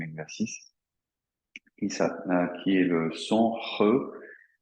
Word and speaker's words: He: qui est le son He. He, ça s'écrit H-E, hein, en chinois, le H se prononce un petit peu comme la rota en espagnol.